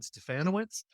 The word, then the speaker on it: Stefanowicz: So my name is Stefanowicz, rhymes with Bananowitz for all of you out there who need to know how to pronounce that long name.